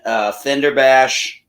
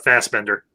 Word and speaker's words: Fassbender: McAfee and Fenderbash. Hey, if I said his name wrong, McAvoy and Fassbender.